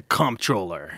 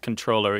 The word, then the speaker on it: comptroller: The comptroller. Yes, the comptroller. Or controller. I think it's actually pronounced controller, even though there was an MP in there.